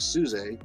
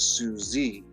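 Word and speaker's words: Suzay: and she um her name i think is spelled s-u-z-a-y so it looks like suze but she always corrects people as no it's susie you know to read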